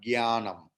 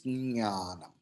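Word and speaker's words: ज्ञानम्: For your convenience, you can use gya, but not gyanam, not ga. You are exempted only if you utter ga along with nya, jnanam. Okay, but the actual pronunciation is jnanam.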